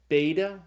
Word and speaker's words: beta: is as in father second letter is the B sound it's called beta like in the word Bible the third letter there's no